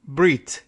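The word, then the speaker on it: ברית: But Subir helpfully points out that Briss is the Hebrew word. Brit is the Hebrew word. Briss is the, a strange, it's an Ashkenazic pronunciation of Brit.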